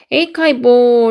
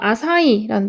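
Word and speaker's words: açaí: 에카이볼 이거는 영어식으로는 이렇게 읽는데 그 그 브라질어로는 아마 아사이라는 뜻일 거예요. 그래서 아사이볼이라고 읽습니다. 그래서 어 나는 만들고 있어.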